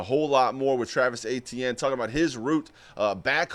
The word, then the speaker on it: Etienne: Etienne is how you say his name.